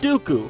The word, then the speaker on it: Dooku: While Lee was portrayed in a number of memorable roles such as Saruman the White, and the rhymes with Poo-Poo, Count Dooku from the worst Star Wars movie.